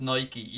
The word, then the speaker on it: Nike: on, with Nike, because it is pronounced Nike, even though I say Nike all the time.